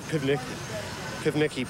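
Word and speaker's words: Pivnicki: But the pronunciation. The last name, was Pivniki. My maiden name was Pivniki.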